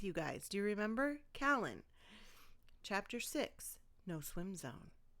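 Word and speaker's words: Cailean: And it's pronounced kalen. I looked it up with you guys. Do you remember kalen?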